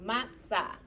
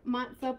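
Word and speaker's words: מצה: So mem with patak would make what sound? Ma. Good, ma. And then tsari with kamatz would make what sound? Good, sa. And then we'll go ahead and just add that H. So matzah is our word. You may have as well go over here. Matzah. You could do S or you can do T. I guess S would be a little more accurate pronunciation-wise.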